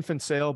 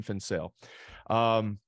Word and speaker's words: Van Zyl: And just for the listeners, it's Dean Van Zyl, but it's spelled VAN space ZYL. So Dean Van Zyl.